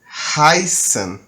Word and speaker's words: heißen: B que é o Beta do Alemão é como fosse dois s certo ainda é do